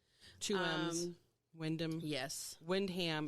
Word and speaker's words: Windham: k m's wyndham yes windham it's spelled wind ham smoosh them together and say that's the way these new england people say things yeah so what was